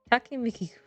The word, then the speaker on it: Takimikiku: So big thanks to Takimiku Mikiku? Takimikiku. Pronounce it like that.